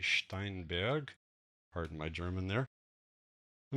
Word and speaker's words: Steinberg: The German pronunciation will be Steinberg.